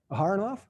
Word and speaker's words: Aharonov: by jakar aharana leo is it a har enough or a runoff a harnoff okay i've heard it pronounced the other way but that would be by an american yeah so this this